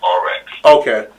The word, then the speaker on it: RX: Well, her nickname is Reese. That's what everybody call her. Okay. But her battle rap name is RX.